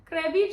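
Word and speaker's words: Krabi: Me and K say Krabby Chada cuz that's how the locals say it.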